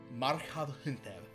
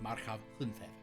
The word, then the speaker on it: Marchav Hunthev: Marchav Hunthev. So basically, that's how you say it. Marchav Hunthev.